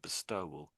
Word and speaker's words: bestow: I wasn't going to mention it, but because you're saying it quite strongly in the word bestow. Bestow. That's why I mentioned it. Bestow. Bestow. I'll let you play with that.